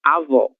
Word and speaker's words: avó: Diferente, por exemplo, desta outra palavra, que tem o acento agudo, que indica que esse som ele é aberto, avó, certo?